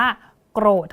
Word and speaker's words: โกรธ: คะ ครู นะ คะ อ่าน ว่า โกรธ ค่ะ โกรธ โกรธ นะ คะ เวลา เป็น คำ อ่าน นะ คะ เรา จะ สะกด กัน แบบ นี้ ค่ะ อย่าง ที่ บอก ไป พอ มัน เป็น คำ ว่า โกรธ เนี่ย เรา เนี่ย จะ สะกด เป็น ตัว ด พยัญชนะ ต้น ที่ เรา ใช้ นะ คะ ก็ คือ ก กับ ร เรือ ค่ะ ที นี้ นะ คะ